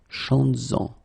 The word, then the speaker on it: chantes-en: Alright, so keep in mind that you will have to keep this S, z, chantes-en, okay, to have this link between the two.